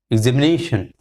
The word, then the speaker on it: examination: So ze has got the secondary stress, nation, and ne has got the primary stress. So once again you can say it in this manner: examination, examination, examination.